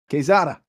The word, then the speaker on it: Quezada: Did I pronounce that right, Ben? Good enough. Quezada.